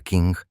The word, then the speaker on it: Qing: El antiguo imperio chino, gobernado por la majestuosa e inmensamente poderosa dinastía Qing, pronunciado Ching, observaba con creciente y genuino terror el veloz surgimiento de este amenazante estado paralelo.